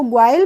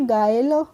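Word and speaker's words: guile: ठीक है नेक्स्ट है जीय आई एल ई तो इसको गवाल पढ़ेंगे नहीं इसको पढ़ेंगे गायल बी आई एस सी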